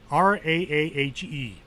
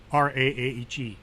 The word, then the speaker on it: Raahe: Well, Raahe. It's Finnish, so if you're Finnish, you know how it's pronounced, and if you're not, Raahe, which is about 370 miles north of Helsinki, the capital of Finland.